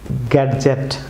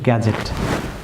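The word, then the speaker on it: gadget: যেমন গ্যাডজেট ভিউয়ার্স, যদি ডি এখানে আমরা ডি সহ প্রনাউন্স করি সেভাবে গ্যাডজেট, ডি সাইলেন্ট থাকবে, সো এটি সঠিক প্রনাউন্স হবে গ্যাজেট।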